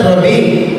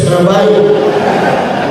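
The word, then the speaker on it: rabbi: Ano sasabihin SAO father it's not rabi It's rabay sa Hebrew rabi sa English rabay so depende na saakin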